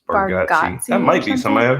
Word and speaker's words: Bargatze: Bargatze. Bargatze.